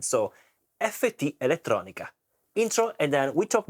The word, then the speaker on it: FTelettronica: So let's pronounce correctly in Italian. It's an Italian brand. So FT Electronica intro and then we talk more about this beautiful pedal.